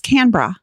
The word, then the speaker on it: Canberra: So Canberra, Canberra. Yeah. No, it's not Canberra. It's Canberra. Canberra.